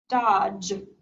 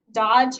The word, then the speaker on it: dodge: lands on dippy duck, which is silent, so we can cross out the D also. And it doesn't affect our O sound because it's too many letters over from magic E, so that's still a short O sound. Dodge. Dodge has one syllable. You hear one vowel sound, the ah.